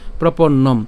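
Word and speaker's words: প্রপন্নম্: এটার উচ্চারণ কি হবে হস চিহ্ন পর্যন্ত উচ্চারণ হবে অর্থাৎ অর্ধেক উচ্চারণ হবে নম হ্যাঁ প্রপন্নম নট নম ঠিক আছে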